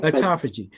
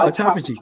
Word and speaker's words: autophagy: that state of um and I can't pronounce the word you just said autophagy. So autophagy.